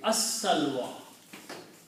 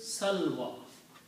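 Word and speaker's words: السلوى: And when you read this together, you read as-salwa. Because lam here is not pronounced, because sin is a shamsi letter. So it will be pronounced as salva.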